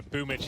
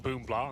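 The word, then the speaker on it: Boombl4: So anyone who's not aware, Boomich is like boom blah on the screen. It says obviously it's Russian pronunciation. We're trying to cater for them. BL is a different character.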